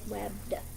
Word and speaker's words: webbed: it's okay this one it's webbed webbed but it's only one syllable webbed it's not webbed it's just webbed just the d by itself let's keep this one